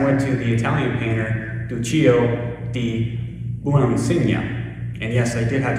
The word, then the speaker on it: Duccio: gospel text i went to the italian painter duchy o and yes i did have to look out how to pronounce duccio is considered one of the greatest